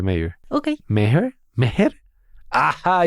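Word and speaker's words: Maher: ¿Meher? ¿Meher? ¡Ajá! Y Penélope Salmanos. ninguno de los dos estaba cerca. Aquí está Catherine misma diciendo su nombre. My name's Catherine Marr, and I am the CEO of the Wikimedia Foundation.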